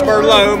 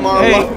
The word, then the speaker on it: Marlowe: Bro, you guys said not to say it like a wine. Cameron Marlowe. Marlowe. Marlowe. Cameron Marlowe. Marlowe. Not Merlot, Marlowe.